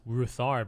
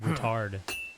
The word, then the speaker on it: Ruthard: trade yeah I was I thought it was pronounced ruthard but it's pronounced routard nothing to your L what will it be